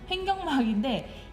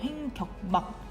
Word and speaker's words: 횡격막: 근데이 발음이 횡경막이라서 이제 잘못 이해하는 친구도 있거든요. 횡경막이 아니면 발음할 때 횡경 나만 이렇게 발음하나? 횡경막인데 이게 실제 옳은 단어는 횡격막이에요. 횡격막.